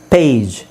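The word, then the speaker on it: page: ಈ ತೆಗಿತೀನಿ ಅಂತ ಇಟ್ಕೊಳ್ಳಿ ಈ ಇಲ್ಲ ಅಂದ್ರೆ ಇದರ ಉಚ್ಚಾರಣೆ ಏನಾಗುತ್ತೆ ಗೊತ್ತಾ ಎಸ್ಟಿಎಜಿ ಸ್ಟಾಗ್ ಯಾಕ ಹೇಳಿ ಇದಕ್ಕಿಂತ ಮುಂಚೆ ನಾನ ಏನು ಹೇಳಿದೆ ಕೊನೆಯಲ್ಲಿ ಜಿ ಬಂದ್ರೆ ಅದನ್ನ ಗ ಅಂತ ಹೇಳಬೇಕು ಸೋಎಸ್ಟಿಎಜಿ ಸ್ಟಾಗ್ಎಸ್ಟಿಎಜಿಇ ಸ್ಟೇಜ್ ಪಿಎಜಿ ಪ್ಯಾಗ್ ಪಿಎಜಿಇ ಪೇಜ್ ಸೊ ಇದು ಈ ತರ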